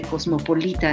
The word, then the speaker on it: cosmopolita: Va a hablar, la digresión histórica se dirige al concepto de cosmopolitismo, de cosmopolita es la pronunciación correcta.